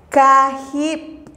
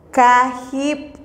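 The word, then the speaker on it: kajib': La pronunciación es Hun. Hun. Kep. Kep. Que significa dos. Oship. Oship. Que significa tres. Kahip. Kahip.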